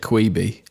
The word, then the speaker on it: Quibi: they pronounce it Quibi.